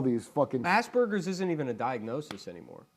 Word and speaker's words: Asperger's: Asperger's isn't even a diagnosis anymore. Yeah, it's look, not in the DSM. It's got a hard G at the end of it.